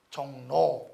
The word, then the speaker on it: 종로: 어떻게 발음되니? 종노죠? 비음이고 비음이죠?